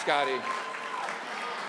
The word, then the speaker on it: Scotty: Scotty, it's Scotty. So sorry. Scotty, it rhymes with hottie, sorry, yeah.